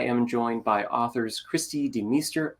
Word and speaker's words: DeMeester: joined by authors christy de meester i probably should ask is that the per the pronunciation for your last name beautiful you did it perfectly because i know in